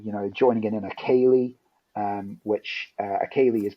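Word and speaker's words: ceilidh: at yeah so yeah there's basically a lot of silent letters in in Galax so uh so Kaylee as uh is actually spelled uh so c-e-i-l-i-d-h um uh so um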